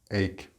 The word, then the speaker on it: ache: the pronunciation of ache many students do not pronounce this word correctly and they try to pronounce it the way it's written like phonetically it is not AE it is a a ache be careful with the